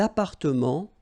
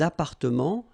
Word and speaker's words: appartements: Des appartements en copropriété. Remember, final S and final T are not pronounced here. Des appartements, little liaison here, des appartements en copropriété.